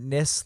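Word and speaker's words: nisse: And then it would be nissa. So nothing like niece. Okay. English, most people in English pronounce it nis like hiss.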